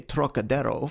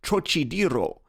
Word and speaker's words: Trocadero: That peculiar throaty aspirate the Frenchman gives to the first syllable, as though it were spelled Troc, is utterly beyond the Chinese, and beyond the American too, whose idea of the tonsillar aspirate leads him to speak of the trochidiro, naturally falling back upon